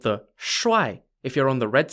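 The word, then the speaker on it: shi: the jiang or shrai are the pieces called shu spelt s-h-i shu in chinese means guards but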